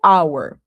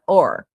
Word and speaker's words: our: Eu tendo a pronunciar sempre como our, mas também existe a pronúncia or. Você pode ouvir essas duas. Você pode usar a que você achar melhor. Eu acho our mais bonito, então eu falo our.